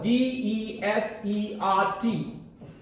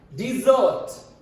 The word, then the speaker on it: desert: D primary stress z dessert. Do you know if it's a noun its pronunciation will be desert and if it's a verb its pronunciation will be desert.